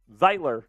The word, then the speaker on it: Zeitler: Zeitler, I think is how you say it. The Zeitgeist.